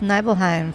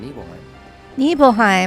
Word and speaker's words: Nibelheim: the water tower in neheim neheim I keep saying it wrong think how much it meant to me neble evil neble it still there that's how I need to remember it evil nil even though